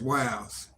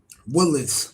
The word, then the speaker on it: Willis: Willis is not W-I-L-E-S. That's Wiles. And that's not even the word. Willis. Let's pronounce it. Willis. W-I-L-L-I-S. Willis, not Wiles.